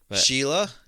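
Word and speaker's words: Síle: o b a n Sheila is s i l e did you know that I did not know I've seen uh s l e like spelled that way before and know Sheila yeah there's a there's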